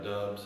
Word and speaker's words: Doubs: But one guy I do want to talk about, Romeo Doubs, or Romeo Dubs, or some people may want to call him I think he actually said he pronounces his name Dobbs, but he doesn't care.